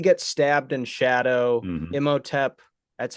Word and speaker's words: Imhotep: Imhotep, that's how you say it, right? Hmm. Imhotep.